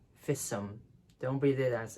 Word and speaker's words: FISM: You read the initials of a word as one word, FISM. Don't read it as FISM.